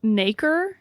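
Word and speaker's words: nacre: Um it's pronounced naker.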